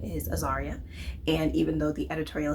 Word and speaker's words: Azaria: her in the meeting that my name is Aaria and even though the editorial assistant was pronouncing my name correctly the entire time.